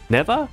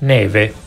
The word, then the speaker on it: Neve: Neva? No, okay, how do you pronounce her name? Someone told me already in chat. It's an Italian name. It's snow in Portuguese. And this is what it means. Neve.